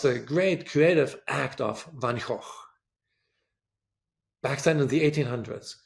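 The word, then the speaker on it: Van Gogh: So maybe I should pronounce it better. Van Hawk, Van Hawk, the famous Dutch painter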